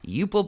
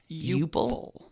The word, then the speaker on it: Euple: Eupple Bird. I'm sorry. Can you spell that? E-U-P-L-E. Eupple.